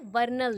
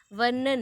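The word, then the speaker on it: Vernon: वर्नल ने। किसने दिया? वर्नन ने, ठीक है। दैट इज़ नॉट वर्नल, वर्नन, ठीक है। मैंने थोड़ा मिस प्रोनाउंस कर दी, वर्नन, ठीक है, वर्नल निकल गया, वर्नन, ओके।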